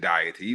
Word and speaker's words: deity: Now you might hear the word deity, and if you got an accent, you might pronounce it deity, but deity.